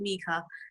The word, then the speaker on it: Micah: I pronounce it Micah.